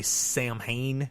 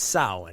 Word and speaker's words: Samhain: sa now sa you know some people say sam Hae because they don't know how it's pronounced Sam H it's sin and sin is is an Irish word that